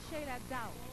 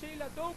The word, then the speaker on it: Sheyla Dow: Ok, se pronuncia Sheila Down. Sí. Porque mi apellido, aunque es D-O-W, sí, se escribe D-O-W-N-I-N-G, pero se pronuncia Downing. Entonces es okay. Sheila Down. Y yo te dije Sheila Doe porque como low, ¿verdad?